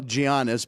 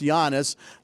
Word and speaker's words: Giannis: okay so Giannis Giannis who I used to call Giannis but it's Yannis uh Chris Andrews corrected